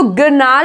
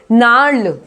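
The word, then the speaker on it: gnarl: Next, नार्ल। इसको गिरनाल नहीं बोलेंगे, क्या प्रोनाउंस करेंगे हम? नार्ल।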